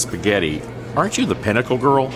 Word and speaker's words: spaghetti: Can I please have the paschetti? Excellent choice, and it's pronounced spaghetti.